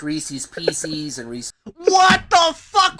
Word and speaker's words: Reese's Pieces: It's called Reese's Pieces. It already rhymes. You don't have to change the pronunciation.